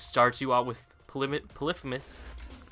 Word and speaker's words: Polyphemus: you out with poly polyphemus or polyphemus as people uh pronounce it and uh also with